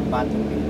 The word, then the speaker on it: Batumi: How do you pronounce it? Batumi or Batumi?